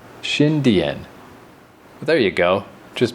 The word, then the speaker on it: Xindian: Now I know, I was saying like Xindian, like trying to say it too fast. Like Indian with a sh. Xindian.